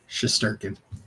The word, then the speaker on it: Shesterkin: uh shester can deal there yeah you can't pronounce his name and it's funny yeah shesterkin shesterkin okay eight years 92 million I mean